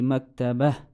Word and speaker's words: مكتبة: If we compare it with this sentence where whole sentence was ending on ta al-marbuta and there was nothing after it, I pronounced it as ha, so I read it as هذه مكتبة.